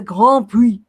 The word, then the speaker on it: Grand Prix: Grand Prix. Please, it's French. Yeah, you don't pronounce the S after the Grand. Grand. Grand Prix. Yeah, Okay, yeah. Grand. You pronounce it. Okay, the Grand Prix.